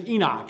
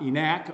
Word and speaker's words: Enoch: I know that guy his name is Enoch it's not enact or T not I